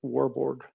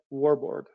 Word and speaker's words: Warburg: If I'm pronouncing his name right, Warborg. So Otto Heinrich Warburg.